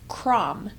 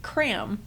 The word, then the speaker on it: Kram: thought the pronunciation was Kram. But it turns out, I've learned this from my friends in Germany, the A is actually an A sound, not an A sound, so it's actually Kram, which was used not